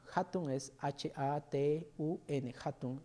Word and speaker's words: hatun: el en el quecho se lee como J o se pronuncia como J Entonces por ejemplo hay una palabra que es hatun hatun es h a t u n hatun y significa grande